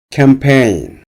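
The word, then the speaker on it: campaign: 앞에 h를 발음되지 않습니다 캠페인 캠페인 활동 캠페인 캠페인 활동 캠페인의 뒷부분에 쥐는 마련되지 않습니다 어라운드 월드 전 세계의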